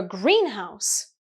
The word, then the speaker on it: greenhouse: Stresses can help. Usually the stress is on the first syllable in compound nouns.